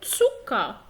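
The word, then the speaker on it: Zucker: أو تسوكا، تسوكا، تسوكا يعني سكر.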